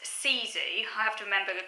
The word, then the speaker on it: sisu: Nathan culture and the sort philosophy and it's pronounced Caesar you have to remember the quick way pronouncing it because it's not phonetic it's some spell s is you but it's actually pronounced cz which roughly translates as courage fortitude and not